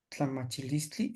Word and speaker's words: tlamachilistli: Tlamachilistli, el pensamiento. Pues hasta aquí terminamos. Maestro, ¿Sí? ahí las últimas, tlamachi, la A no se dice, no se pronuncia la A, Tlamachilistli, no, ¿no?